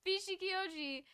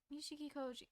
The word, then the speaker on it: Nishikikoji: Bishikioji was a very strange fellow, wasn't he? Nishikioji. What? Nishikikoji.